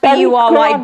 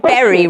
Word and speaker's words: bury: Pronounced B-U-R-Y, berry, rather than bury.